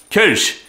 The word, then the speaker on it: Kölsch: This week, Kölsch. How do you pronounce it? Kölsch. Actually, it's easier for me and you, Chris, to pronounce because the O in Kölsch is pronounced like Beth in French.